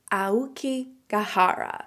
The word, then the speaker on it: Aokigahara: Okay, so that area is pronounced Aokigahara. So this location is nowhere near where Sapporo was. Sapporo is like way higher up on the map, and it's actually Aokigahara.